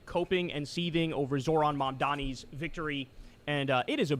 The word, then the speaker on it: Mamdani: It's Mamdani, Mamdani.